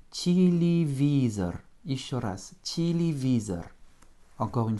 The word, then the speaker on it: телевизор: O et un R, avec un accent tonique sur le I, ce qui va réduire mes deux premiers Y en petit I et mon O final en presque petit A, ce qui nous donne en prononciation téléviseur.